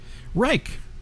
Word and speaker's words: Reich: let's see Reich Reich rhymes with like thank you uh okay